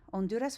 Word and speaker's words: Honduras: Honduras with a silent H, right?